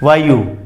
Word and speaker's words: वायु: ऐसे बोलते हैं वायु, कि वायु चल रही है, वायु, वायु नहीं। ई तो यहां कहीं है ही नहीं, इसलिए ई का ना लेखन होगा ना उच्चारण होगा, वायु, आयु, ठीक है। इस तरह से आप इसको बोलें, और यहां ह्रस्व उ का प्रयोग होगा, दीर्घ का नहीं।